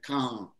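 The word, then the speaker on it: Cahun: Well, when I saw it said by someone on video, a French man, he said, come. Come. It's almost like, because I was like, Cajun, Cajun. It's like, come.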